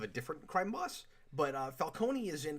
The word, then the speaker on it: Falcone: But Falcone is in, because they pronounce it Falcone in the Batman and in Gotham. It's Falcone everywhere else.